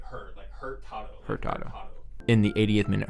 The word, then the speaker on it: Hurtado: Just say it like an American. It's okay. Hurtado in the 88th minute Hurtado closed the deal on that one with the score. He is American. It's actually Hurtado. Hurtado.